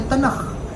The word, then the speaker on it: तनख: और जो तीसरी कैटेगरी है यानी काफ या के जिसको कहा जाता है या ख से तनख या तनख उसको प्रोनाउंस किया जाता है।